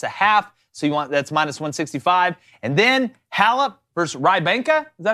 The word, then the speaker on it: Rybakina: So that's minus 165, and then Halep versus Rybanka. Is that how you say it? Something like that. Here, use your Rybakina. Rybakina. Yeah, Rybakina.